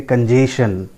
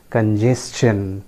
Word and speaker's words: congestion: तो इसको भी उसी तरीके से कंजेशन प्रोनाउंस करते हैं, but that is again not correct. इसको भी इसी तरीके से हम लोग प्रोनाउंस करते हैं, जैसे सजेशन, उसी तरीके से the correct pronunciation is congestion. Friends, it is congestion.